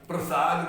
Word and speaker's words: प्रसाद: मेरे देवता माफ कीजिएगा, प्रसाद में आधा अक्षर कौन है? ना, प्रसाद में आधा अक्षर रा नहीं है, पा है। पा है। उच्चारण सही आपका, उच्चारण कीजिए। प्रसाद। रा पूरा बोल रहे हैं, पा आधा बोल रहे हैं।